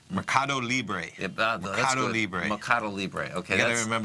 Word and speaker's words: Mercado Libre: Mercado Libre. Mercado Libre. Mercado Libre. Okay. You got to remember like Cuba Libre, no, like a rum and coke with a lime. That'll get you there.